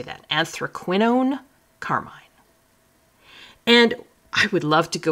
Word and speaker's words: anthraquinone: So this is anthraquinone carmine. That's how you say that. Anthraquinone carmine.